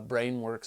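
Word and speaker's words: Brainworx: by brain works uh brain works is spelled b r a i n w r x brain brain works I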